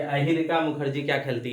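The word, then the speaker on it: Ayhika: तो ये जो है अहिरिका, अगर हम सही प्रोनाउंसिएशन कर रहे हैं तो याद रखिएगा अहिरिका मुखर्जी और सुतीर्था मुखर्जी।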